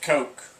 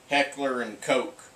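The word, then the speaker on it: Heckler & Koch: people say it but it's pronounced Coke right so somebody got it right with the patch it's Heckler and Coke H and K right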